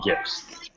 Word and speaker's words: GIF: They're GIFs, and I guess it's pronounced GIF like peanut butter.